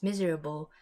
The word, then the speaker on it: miserable: So it's actually spelled the same way as miserable, but again, we say it as how it is spelled out, miserable.